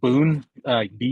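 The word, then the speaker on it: bún: there's There's also boon, bun. It's just bun, but they pronounce it boon.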